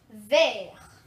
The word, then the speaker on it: vert: Vert, so that's how you say it in French, so it's vert.